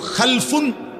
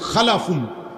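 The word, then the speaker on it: خَلَف: হল খালফুন আরেকটা হল খালাফুন একই শব্দ শুধু উচ্চারণের মধ্যে একটু ভিন্নতা মাঝখানে একটা লাম আছে এই লামটার মধ্যে যদি সাকিন হয় তাইলে হল খালফুন আর যদি লামের মধ্যে জবর হয় তাহলে হল খালাফুন আরবি শব্দ এ খালফুন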